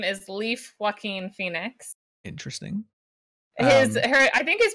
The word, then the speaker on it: Joaquin: One more time. Joaquin. Yeah, like walking, but okay, Joaquin.